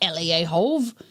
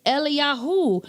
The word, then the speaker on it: Eliyahu: We know that's not how you say Elijah. It's not Eliahov. It's Eliyahu. So if the Father's name